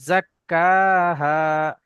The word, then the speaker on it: زكاها: কফ উচ্চারণ হয়ে যাচ্ছে, জাক্কাহা। কয় আকারে কা যেমন হয় ওই রকম উচ্চারণ হবে। قد أفلح من قد أفلح من زكاها قد أفلح من জাক্কা زكاها কাফটা একটু টানতে হবে, জাক্কাহা।